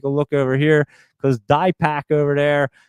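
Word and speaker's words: Dipak: And let me take a look over here cuz DPAC over there, D I P A K JV, it's Dpac. You actually told me how to pronounce your name.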